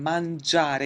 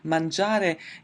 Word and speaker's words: mangiare: as studiare and then mangiare is another one, mangiare is spelled with g-i-are, we don't pronounce the 'i' it only serves the purpose of softening the pronunciation of the G letter but it's there it's spelled there.